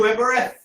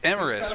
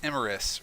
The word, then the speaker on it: Imris: Are you Eryet? Why does everyone mispronounce everything? It's Emerus, right? It's 1 a.m. Oh my god. Well, I mean, like, I misheard it because you were cutting out, but it's Emerus, right?